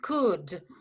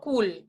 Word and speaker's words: could: Attention, the pronunciation is could. Yes, so you say here, the pronunciation is could I? Something like that. Could I? Yes, or could you? But it's could, not cool.